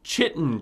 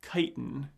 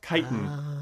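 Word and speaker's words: chitin: She calls him Chitten Cheeks, but I turned on the closed captioning to make sure it was this. The word is actually kiten, which is a chemical found in arthropod exoskeletons.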